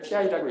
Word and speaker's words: PI: 여러분들 여기서 PI를 잘못 읽어서 파이라고 읽으시면 안 되고요. PI를 PI라고 읽으셔야 합니다. PI는 여기 오셨으니까 제가 대중분들을 위해 말씀을 드리자면 Principal Investigator의 약자이고요. 그래서 파이라고 잘못하시면 안 되겠습니다.